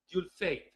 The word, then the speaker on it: Dieulfaite: irrepetible es algo así se escribe d i e u l f a i t e algo así como du fate algo así eh Y